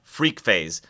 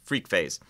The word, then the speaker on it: FreqPhase: have seen something called freak phase a new tech te ology by JH audio it's spelled fq phase freak phase and if you've read